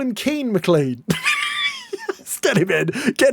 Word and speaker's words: Keane McClean: Then we have Keane McClean, a brilliant name, I'm sure you're saying. It rhymes, and I love a rhyme.